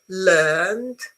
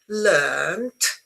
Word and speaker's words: learned: Learned. learned is the verb.